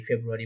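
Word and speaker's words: Februar: মাস name, যে ইংরেজি যে মাসের নাম, জানুয়ারি, ফেব্রুয়ারি, মার্চ, এপ্রিল, মে, ঠিক আছে?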